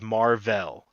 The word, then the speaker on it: Mar-Vell: That's actually how it's pronounced. No, but no one says Marvel. His no one does. his Kree name is Mar-Vell.